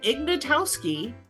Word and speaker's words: Ignatowski: Hey, okay, so that was Jeff Ignatowski, and I'm just so proud of myself for pronouncing his name correctly.